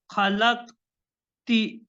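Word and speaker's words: خلقتِ: Because before ya always comes a kasra.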